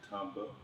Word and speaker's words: Tamba: segments with these two amazing talented NFL players Timba if I said it wrong H it always trips me up to say his name can you pronounce your name Tamba Tamba Hal tah Hali of course we know